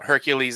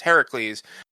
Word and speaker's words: Heracles: I've talked about this how Hercules is actually he supposed to be pronounced Heracles because he was named after Hera because Hercules Heracles mom